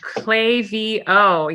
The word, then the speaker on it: Klaviyo: at Klaviyo or Klaviyo, however I feel like pronouncing it today? Klaviyo.